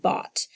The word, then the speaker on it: bought: O you and then we had two silent letters what were they G H and we had a he that's the word bought so pause the video